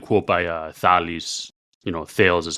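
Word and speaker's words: Thales: there's another good quote by thalis you know thals is how you say it in English CH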